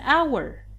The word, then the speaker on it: hour: Or it's an hour. Although hour begins with h, but h is silent, so it begins with the vowel, a sound, hour.